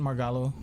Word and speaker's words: Margallo: I believe that would be kind of more the Spanish pronunciation, Margallo.